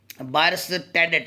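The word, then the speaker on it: Bierstedt: इस तरह Robert buyers टेडेट, इसको पढ़ना, बायस, बी आई, बाई है, एस्ट, ये एरेस्टेड, एरेस्टेड, तो ये टी साइलेंट इसमें आएगा। सो बाय रेस्टेड, क्या बेटे, बाय एरेस्टेड, ये टी आपका साइलेंट होगा, बाय रेस्टेड, ये टी लिखना है लेकिन ये साइलेंट है।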